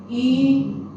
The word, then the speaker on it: 鱼: If you really cannot pronounce, you just imagine you want to do a kissing. You want to like kiss your wife. Okay? Just like yu, like kiss.